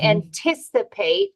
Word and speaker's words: anticipate: pronouncing so anticipate okay anticipate if the stress is on the second syllable anticipatory so remember sometimes